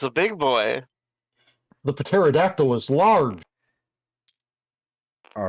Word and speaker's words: pterodactyl: And now I'm going to summon a pterodactyl.